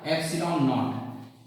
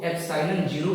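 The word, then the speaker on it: ε₀: तब जो होता है बेटा, के की जो वैल्यू होती है ये होता है 1/4 एप्सिलॉन नॉट। इसको एप्सिलॉन 0 भी पढ़ते हैं और एप्सिलॉन नॉट भी पढ़ते हैं।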